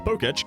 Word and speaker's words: Pokétch: But let's be real, the Pokétch is mostly just an item finder. Side note, I would be pronouncing this as Pokétch the whole time, because that's just what an E accent aigu sounds like, but aside from the